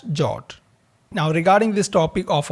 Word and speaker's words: JWT: In this particular tutorial, we are using the standard JSON web token in short pronounced as jot.